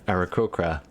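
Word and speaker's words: aarakocra: sort of the hidden lord and the uh arachokra am i saying that right said it right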